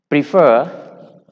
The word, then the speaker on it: prefer: Prefer, repeat. So for these cases, C and D, the stress is on the last syllable.